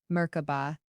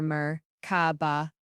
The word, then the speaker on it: Merkaba: In their sacred tongue, they whisper a word, Merkaba, a word of power, Merkaba, three syllables, each resonating with ancient force.